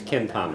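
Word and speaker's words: Cén t-am é: That's how you say it in Irish. Ken tame.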